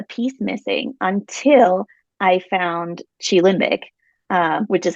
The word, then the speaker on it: QiLimbic: missing until I found Chi limic um which is how you pronounce it Chi like Tai Chi um it's it Chi